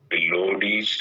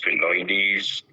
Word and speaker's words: Phyllodes: Now, because of its varied origin, it's pronounced in various ways. And that is probably the most controversial. So if you look at the name, you can call it Phyllodes, Phylloides, Phylloides, Phyllodes, or any combination of a short or long